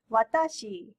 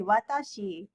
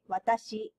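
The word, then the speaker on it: わたし: you know this but when you speak japanese you have to make it flat so always um try to make the pronunciation flat so not watashi but many foreigners say watashi but you should say watashi and we have two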